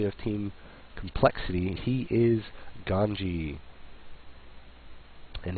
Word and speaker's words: Ganzi: He is Ganzi, and his Z is pronounced as a J in Hangul.